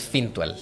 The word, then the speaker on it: Fintual: Oye, ¿y es Fintual o Fintual? Porque Domingo aquí, mi colega, le puso acento en la A. Es Fintual.